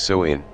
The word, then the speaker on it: Samhain: back to the ancient celtic festival of Samhain pronounced so in the cells who lived 2,000 years ago in